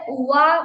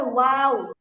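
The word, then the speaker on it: واو: বাস বাস, আপনি হচ্ছে ওয়া বলতেছেন, উচ্চারণটা হবে ওয়াও।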